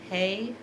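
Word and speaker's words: ה: the hey out loud hey is the sound of breathing the out breath and the in breath both make the same sound of hey and there's a perspective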